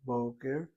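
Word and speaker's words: בֹּקֶר: with a media holam and shows the accent over the first syllable, boker. Why so? Because the media holam is always accented when it occurs in a word.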